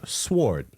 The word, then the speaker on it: sword: sword no sword swords the W is silent thank you Cruz I